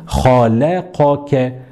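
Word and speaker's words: خلقك: Juste après, on a le kaf qui est quoi? Qui est emphatique, donc nous dirons kha. Et on finit avec ke qui est aminci. Et donc, pour bien prononcer ça, on prend notre temps, pas de problème, et nous dirons khalaqaka, khalaqaka, khalaqaka.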